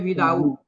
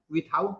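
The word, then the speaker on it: without: तब ना कहते हैं विदाउट। विदाउट टिकट वो लोग जा रहा था, कहते हैं ना विथआउट टिकट नहीं बोलते हैं।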